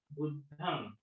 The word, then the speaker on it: बुद्धं: त्याचं उच्चारण बुद्धम. न चा उच्चार झाला पाहिजे, म चा नाही.